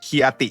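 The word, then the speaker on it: Chianti: ก็ จะ เป็น วน จะ ออก เสียง ว่า เคียน หรือ คียอาติ ก็ ได้ เป็น วาย องุ่น แดง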